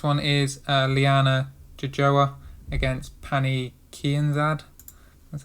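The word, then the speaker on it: Pannie Kianzad: Next one is Liana Jojoa against Pani Kianzad. That's how you pronounce it.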